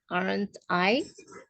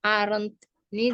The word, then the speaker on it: aren't I: Selanjutnya I am late, aren't I? Ya, jadi aren't ini di sini first statement with I use aren't I, not am't I.